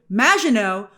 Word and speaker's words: Maginot: As we touched on in my non-spoiler review, Maginot refers to the Maginot Line, which I'm now pronouncing correctly, a term from World War II,